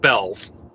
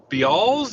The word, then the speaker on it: Bealls: e a l LS so from what I'm told from native Floridians it's just called Bells so where the hell is the a it's like isn't it Bealls or be s be something like that but no it's like they just call it bells and I don't understand